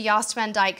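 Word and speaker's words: Jost Van Dyke: I think a day trip to Yost Van Dyke sounds like just what you're looking for. Yost spelled with a J, J-O-S-T.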